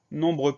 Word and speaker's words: nombreux: cris e u là on a une lettre muette à la fin de nombreux c'est le hic ce